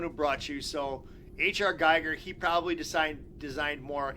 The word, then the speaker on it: Giger: this question HR Geiger I'm almost positive it's pronounced Geiger never designed another alien